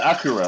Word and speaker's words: Akira: It's pronounced Akira, okay.